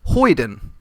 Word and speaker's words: hoyden: lady no it is it is definitely pronounced hoyden how would you spell